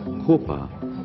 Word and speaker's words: Khwapa: This name was over the years pronounced as Kopa which is still in use in the valley.